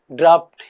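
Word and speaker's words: draught: जो दूसरा वर्ड आपके पास में है इसको भी अपन ड्राफ्ट ही बोलते हैं, इसका प्रोनाउंसिएशन ड्राफ्ट ही होता है।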